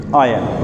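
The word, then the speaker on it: iron: Come to know कि इसकी pronunciation क्या है, आयन है, आयन।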